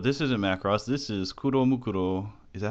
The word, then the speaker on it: Kuromukuro: This is Kuromukuro. Is that how you say it? Kuromukuro, yeah.